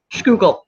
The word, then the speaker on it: Schuylkill: It's the Schuylkill? Schuylkill. Yeah, the Schuylkill. I love the Schuylkill.